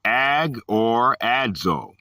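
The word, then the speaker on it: ἀγοράζω: Agorazo, pronounced ag or adzo, from Greek number 58.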